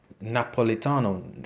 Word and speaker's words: Napolitano: Though blue-eyed with blonde hair, my mother with a pale complexion often boasted that she was Napolitano from Naples. She pronounced it Napolitan.